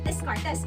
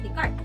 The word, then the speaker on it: Descartes: Sa ibang tao po, ang sinasabi po nilang pronunciation was Descartes, but the correct pronunciation was Descartes.